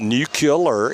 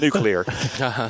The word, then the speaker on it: nuclear: athlete it's athlete athlete it's not nucle it's nuclear okay not West Minister it's